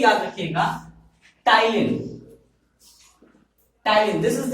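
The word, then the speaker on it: ptyalin: टाइलिन, this is the name of salivary amylase. तो याद रखिएगा ये पी साइलेंट है, ओके।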